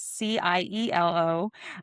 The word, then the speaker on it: Cielo: And Cielo is a Spanish word, so it's Cielo. Doesn't sound always has as it is spelled.